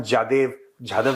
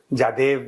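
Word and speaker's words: Jadhav: वो नहीं कि हमने कुलभूषण जाधव नहीं बोल पाते, पता है? हाँ। जादेव बोलते हैं पाकिस्तानी ना, they can't pronounce his name, which is very funny.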